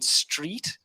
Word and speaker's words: street: remember your pronunciation but you didn't say e as in street i think you said i can't remember like you said straight or strike or something else but not the e sound and then with the